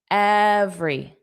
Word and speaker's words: every: So, we have every every. So, everyone, but let's just forget about one. And then we have every. Every is two sounds. That e in the middle is not pronounced. Every.